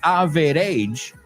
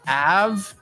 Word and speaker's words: average: And just be careful, it's not average, it's average. O sea, nos comemos la E del medio. Nobody says average. It's average. Porque pasamos por encima de esa sílaba.